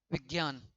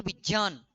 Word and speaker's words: विज्ञान: आप लोग इसे क्या बोलते हो? विज्ञान। जबकि यह वार्तनिक दृष्टि से हम जो उच्चारण करते हैं यह गलत है। यह शब्द विज्ञान है ही नहीं। यह शब्द है विज्ञान।